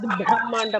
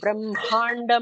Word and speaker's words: Brahmanda: The emphasis is on hma, not the bha. So it's not Majjad Brahmanda Mandala, it is Majjad Brahmanda Mandala.